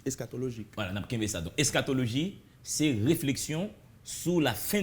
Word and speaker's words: eschatologie: comprendre ça veut dire eschatologie. Bon, eschatologie, c'est ensemble. Comment l'écrire en français déjà? E-S-C-H. Et bon, ouais, ça se prononce. Eschatologie, voilà, eschatologie. Hein?